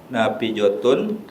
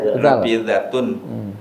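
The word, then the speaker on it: نافذة: terakhir nih Kal terakhir nafijotun apa nafijotun kok do sih huruf da itu Nafidatun Sud Sud ya Nafidatun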